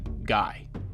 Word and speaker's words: Guy: to not do, and it gained its modern pronunciation, Guy.